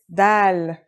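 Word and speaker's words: دال: notebook ready let's go our first letter is dal it's just like the english d very easy to pronounce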